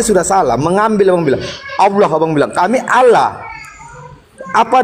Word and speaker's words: Allah: Tuhan yang kami sembah Allah ya dibaca tafkhim dibaca tebal tulisannya alif lam lam ha ditransliterasi ke dalam bahasa Indonesia dengan menggunakan abjat latin tulisannya a l l a h kami bacanya Allah dibaca tebal Kenapa karena itu ada dalam ilmu tajwid dalam agama Kami sekarang